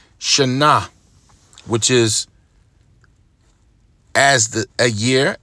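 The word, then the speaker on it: שָׁנָה: Shana. Shana. Okay, sound like you pronounced it correctly. Shana, which is as a year, as a division of time.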